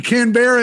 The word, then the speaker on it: Canberra: be here all right pavone gran barra cran canberra is correct that one yeah what the [